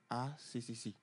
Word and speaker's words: A3C: Nous, on le prononce ACCC. ACCC. Voilà.